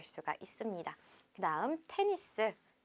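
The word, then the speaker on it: tennis: 알 수가 있습니다 다음 테니스 땐 있으 자 우리 보통 탕 써 에서 자음으로 끝나는 경우 끝나는 자음은 발음하지 않는다 라고 알고 있는데여 테 니 스 라는 단어는 뒤에 s 발음을 해 주셔야 합니다 이렇게 약간 영어에서 온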